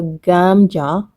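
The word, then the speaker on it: 감자: But Korean is gamja, namja. I still don't get it. Make sure you pronounce the gamja when you want to say potato, or namja when you want to refer to a man.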